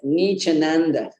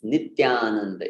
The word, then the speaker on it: Nityananda: It's mispronounced as Nichananda. Nichananda. Nichananda. I'll even type it. It looks very funny when you type it. Nichananda. First of all, we need to pronounce that t. It's not ch.